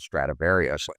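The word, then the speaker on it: Stradivarius: The book uses the term stratavari. That's the actual Italian pronunciation, whereas Latin pronunciation, which most people know about, is called stratavarius.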